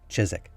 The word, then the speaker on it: Chiswick: chiswick house incorrectly yeah i know that some of you probably think it's pronounced chiswick house because there's a w in there but nobody in england